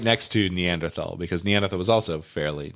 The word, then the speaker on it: Neanderthal: also fairly new and I will pronounce it neanderthal Neanderthal until the day I die because I don't pronounce it p i pronounce it Paris cuz I'm a goddamn American that was pretty hot